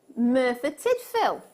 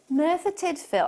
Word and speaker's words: Merthyr Tydfil: Merthyr Tydfil. Merthyr Tydfil.